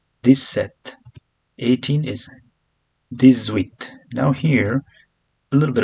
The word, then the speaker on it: dix-huit: Since huit starts from vowel, as I said, H is not pronounced, so it's kind of vowel sound. So this becomes z, this, okay, dix-huit.